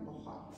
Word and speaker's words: Borja: maternel, Alfonso de Borja, toi tu prononcerais bien en espagnol, hein, Borja, évêque de Valence en